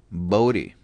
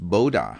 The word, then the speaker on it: Bode: Bodhi. It's a Dutch name. In Dutch, it's pronounced Bodha according to Wikipedia.